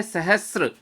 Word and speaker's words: सहस्र: अब देखिए अगला शब्द, इसका तो उच्चारण भी बहुत अशुद्ध है विद्यार्थियों का, वो भ्रांतिवश इसको कुछ और समझ बैठे हैं। ये शब्द है सहस्र।